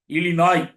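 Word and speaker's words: Illinois: Chicago இருக்கிற நாடு வந்து இலிநோய் அப்படின்னு பேர் ஸ்பெல்லிங்லஐஓஐ இருக்கும் இந்த இருக்கறதுனால நிறைய பேர் தப்பா இலிநாய்ஸ்ல்லாம் படிப்பாங்க இல்ல அது பிரஞ்ச் மொழியில அந்த உச்சரிப்பு இழிநாய் அதுபோல இருகுவாய் என்பதுதான் இருக்குவாய்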